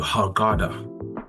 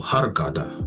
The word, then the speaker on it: Hurghada: So, um so recently went to Harada uh in Egypt or Harada as you as they pronounce it in Egypt.